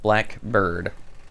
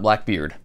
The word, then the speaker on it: BLKBRD: be Blackbird Shoemaker, and it is pronounced the same way, Blackbird, not Blackbeard.